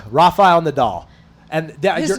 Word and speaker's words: Nadal: this way, because How do you say it, Naval? Rafael Nadal. And His name. So his first name is Rafael. Yeah, Rafael. It's like people call him Just Rafa. stick to Rafael. Rafa Nadal.